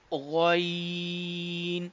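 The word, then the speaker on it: غ: था middle part से, गाइन जो है ये बिल्कुल अपर पार्ट ऑफ थ्रोट से अदा हो रहा है। तो from upper part of throat we can pronounce this letter गाइन।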